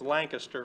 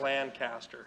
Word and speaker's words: Lancaster: in lancaster pennsylvania uh it's lancaster from out there not lancaster all right okay so